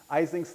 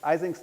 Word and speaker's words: Ising: Ising's name, which is correctly pronounced Ising, is almost universally mispronounced Ising.